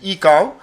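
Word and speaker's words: ICAO: the icon standard okay some of the people pronounce it as e cow okay I cow standard the coordinate of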